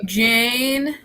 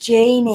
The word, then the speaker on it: Janie: Hello, Jane. Hello. Oh, that's the name I got wrong. It's pronounced Janie. Janie.